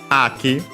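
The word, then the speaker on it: 秋: But yeah, Haru, spring, accent on the first mora, Aki, autumn, fall, however you want to call it, also accent on the first mora.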